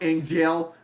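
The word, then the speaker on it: Angeal: I'm sorry, it's pronounced Angel because his name is spelled weird.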